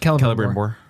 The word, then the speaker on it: Celebrimbor: conversations that he was having with, is it Celebrimbor? Which one? The Smith? Yes. The Elven Smith? Yes, that's Celebrimbor. How's that pronounced? Celebrimbor.